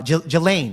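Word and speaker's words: Ghislaine: Can somebody put a pronunciation in the chat so I know I can get it right here? Uh Jelain, there you go. That's that's how you say it. Gelain Maxwell should testify and and Pan Bondi must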